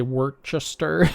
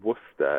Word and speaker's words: Worcester: are i mean if you're in massachusetts there's worcester massachusetts and everybody knows how to spell worcester but we would probably look at it and say work chester or something so how do you spell that yeah that's right it seems that um